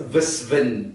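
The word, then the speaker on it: Visvin: you better today all right my name is vvin really how do you pronounce VV V V and then how to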